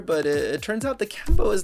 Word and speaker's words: Kambô: I think it's pronounced Kambô. There's like a little accente on top of the A.